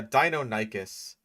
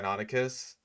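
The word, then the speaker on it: Deinonychus: So, yeah, Dino Nikis, that's one of those pronunciations that I that I hear all the time. Like even though it is incorrect, it's very common. Like um I know that the guy from your dinosaurs are wrong thought it was called Donikas for the longest time until he discovered that it was actually pronounced Donicus.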